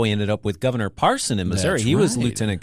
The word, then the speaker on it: Parson: happens with him is everyone says his name wrong it's Parson singular people say Parson par paron okay you know that's